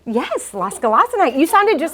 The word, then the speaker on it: Losgelassenheit: Losgelassenheit. Yes, losgelassenheit. You sounded just like Google when I did the pronunciation last night.